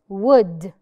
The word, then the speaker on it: would: Wood. Wood. I do not pronounce the L.